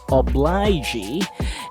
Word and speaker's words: obligee: a ga sound and the i is enunciated as it is itself i oblige obligee and i hope you